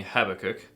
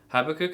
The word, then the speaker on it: Habakkuk: So I think as long as we get it close to Habakkuk, I almost messed it up there too, or Habakkuk, depending on where you want to put the emphasis on the syllable.